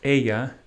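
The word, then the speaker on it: ella: those i'm familiar with my third pronoun is pronounced aya e-l-l-a and the spanish for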